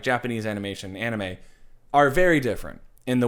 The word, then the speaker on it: anime: email from gfuel that it is Anime but may is spelled ma y like the month so we're talking anime